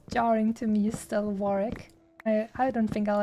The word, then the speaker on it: Warwick: all that time I like I thought it's pronounced Warwick but no I don't know I think it was only this year or the last year that someone told me uh it's actually pronounced Warwick you don't pronounce the second doubt you know